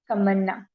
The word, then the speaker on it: Tamanna: Okay, so is it Tamanna? Did I pronounce it correctly or something else? Yes, ma'am. No, ma'am. You are pronouncing it correctly. It's Tamanna.